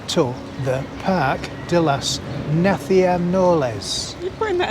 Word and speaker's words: Naciones: Parque de las Naciones. Naciones? It's 4 syllables. Naciones. No, Naciones. Naciones. That's 4 syllables, isn't it?